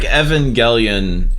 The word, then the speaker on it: Evangelion: I feel like Evangelion is a really interesting point because Neon Genesis Evangelion, as it's actually pronounced, it is this like